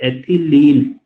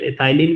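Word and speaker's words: ethylene: और इसके अलावा आप एथिलीन, या इसको कई बार प्रोनाउंसिएट एथाइलिन भी करते हैं, अपना अपना वे ऑफ प्रोनाउंसिएशन है, एथिलीन भी है और एथाइलिन भी है।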